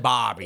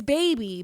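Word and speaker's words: Bhabie: Is it baby or is it Bobby? It's baby. Bad baby. I thought it was Bobby.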